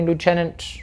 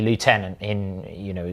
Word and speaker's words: lieutenant: It's meant to be lieutenant if you're English. It's lieutenant if you're English. The French loan word that is pronounced the French way in the English language, except the French don't pronounce it as lieutenant.